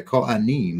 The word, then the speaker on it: Kohanim: So anyway, the priestly garments to be worn by the Kohanim, that's how you say it in Hebrew, priests, while serving in the sanctuary are described.